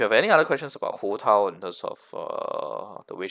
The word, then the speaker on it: Hu Tao: Actually, it should be Hu Tao if you want to say the exact exact pronunciation, Hu Tao.